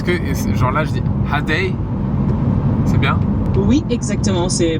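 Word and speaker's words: ha det: Ok, est-ce que genre là je dis hadei? C'est bien? Oui, exactement, c'est parfait, tu le prononces très bien.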